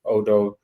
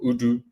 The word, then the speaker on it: Odoo: So the likes of 𝗪𝗪𝗆, the likes of Zoho, the likes of Odoo or Udo, however you want to pronounce it.